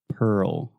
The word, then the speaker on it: Pearl: Pearl Pearl Harbor yes that RL combination can be quite difficult for a lot of Brazilians and Portuguese speakers that's why I always just recommend slowing it down really articulating both syllables Pearl Pearl there we go